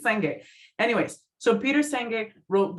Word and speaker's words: Senge: If I pronounced that incorrectly, listeners, please write us, correct us, but we think it's Senge.